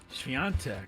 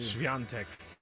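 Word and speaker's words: Świątek: Swiatek. Good job. Said it right, too. Swiatek.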